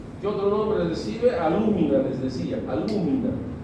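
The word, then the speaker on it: alúmina: otro nombre recibe alumina alumina así con acento en la u pues no el tercero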